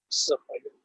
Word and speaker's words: Siheyuan: So in Chinese, we pronounce Siheyuan.